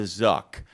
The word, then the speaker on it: Zuck: It's the Zuck. There's a reason why Zuck rhymes with another word. Truck, because trucks are positive and Zuck is negative.